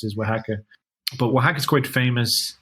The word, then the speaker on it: Oaxaca: But the way it's pronounced is Oaxaca.